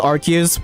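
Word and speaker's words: Arceus: Saying Archus with its S pronunciation makes it sound much less like the Pokemon god to us Brits.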